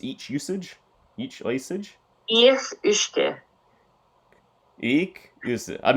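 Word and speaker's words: each-uisge: Ich Ushke. Ich usage. I'm not going to pretend that would It's just Gaelic, yeah. Ich Ushke.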